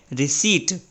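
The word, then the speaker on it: receipt: और इसको पढ़ा जाता है रिसीट।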